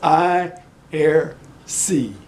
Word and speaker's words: Aiersi: to buy it and I err say I ear see I know Rick you gave me the pronunciation anyway it's I err see he bought me he